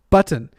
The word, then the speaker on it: button: It's just the right way to say a double T.